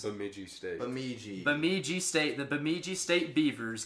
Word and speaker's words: Bemidji: And they played, how do you pronounce? Bemidji State. Bemidji State.